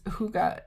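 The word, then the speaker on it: hygge: it says you're supposed to say it is Huga it I don't know I didn't make up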